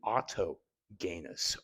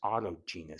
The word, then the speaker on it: autogenous: um and then finally Auto Gus autogenous sorry not the hard G which is a self